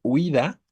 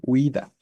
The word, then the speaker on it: huida: que sucede porque que como son dos vocales cerradas forzosamente debe ser un diptongo Y entonces Esto me indica que uida tiene dos sílabas la tónica es la penúltima por lo tanto es